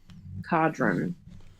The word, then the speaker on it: Codron: Yeah, cod like the fish, Ron. Cadron.